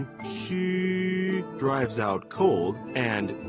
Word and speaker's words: 虚: of Chinese phonetic alphabet, the letter X is pronounced as sh in the English word she. U is pronounced as wu in the word wood, but ending with a prolonged I, as in it.